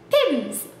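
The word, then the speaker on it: Pim's: great pronunciation guide and this is how they suggest pronouncing pims pins pins pins pins pins and that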